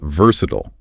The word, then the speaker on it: versatile: Okay, next up is versatile. V E R S A T I L E pronounced V U R sut.